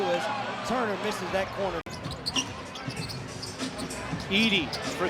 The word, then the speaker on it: Edey: Was protesting, but it was Edey's foul.